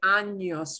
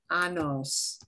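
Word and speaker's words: años: with this word i want everybody to say anos with me now never never never never pronounce that word anos because annos means that ouch okay uh it's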